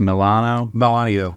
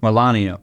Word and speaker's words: Melanio: Is it pronounced Milano? Melanio. Yeah.